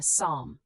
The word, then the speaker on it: psalm: Silent P at the start of Greek origin words. Psychology, pneumonia, psalm.